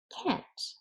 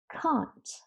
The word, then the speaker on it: can't: forgot in this case you can actually pronounce can't in two different ways if you're referring to american english then you say can't but british people say can't so i can't or i can't so that's a wrap